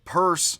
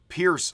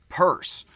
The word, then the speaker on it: Peirce: Pronounced purse like the handbag, even though it does look, possibly, as if it's pierce like puncture. It is not pierce like puncture or rupture for Bataille, the Frenchman.